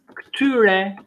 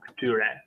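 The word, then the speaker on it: këtyre: Kti, masculine, ksai, feminine, or pronunciation, kti, ksai, or just kti, ksai. And in plural, ktyre, the same, ktyre.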